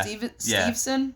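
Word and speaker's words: Steveson: Did I pronounce that name right? Yeah. Stevenson?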